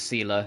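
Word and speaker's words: Seele: In the game they pronounce it Sealer, so that's how I've been pronouncing it. You're most welcome. They don't say Have some Seal, they rest. say Sealer. It's Sealer and Bronya.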